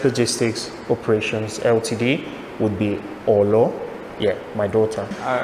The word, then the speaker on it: Olo: Her nickname is Olo, O-L-O. And this is because in Italian, the word for gold is Oro, O-R-O. But when she was little, she couldn't pronounce the R. So she'd always say Olo, Olo, Olo.